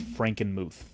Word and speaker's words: Frankenmuth: So the city is called Frankenmuth.